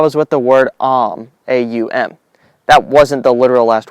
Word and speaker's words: Aum: When the word is said properly and correctly, all the syllables can be said. Aum. That's my attempt at it. If I did it wrong, sue me.